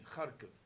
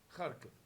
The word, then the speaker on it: Kharkiv: It's a very, very flat eye. therefore, sometimes in English we spell it with an I, Kharkiv, and sometimes Kharkov. But it's something in between, Kharkiv. Kharkiv. It's something in between the two.